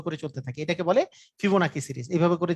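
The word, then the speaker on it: Fibonacci: চলতে থাকে এটাকে বলে ফিবোনাকি সিরিজ এভাবে করে যে চলতেছে যে সিরিজটা এটাকে বলে ফিবোনাকি সিরিজ ফিবোনাকিও বলে ফিবোনাও বলে হ্যাঁ দুইটাই উচ্চারণ আছে সমস্যা নাই ফিবোনা মানে ছোটবেলায় আমরা পড়তাম ফিবোনাক্কি সিরিজ মানে আসলে আমরা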